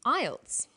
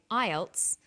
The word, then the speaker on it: IELTS: acronym with an acronym we don't pronounce the individual letters we pronounce it as a word so we say IELTS not i e l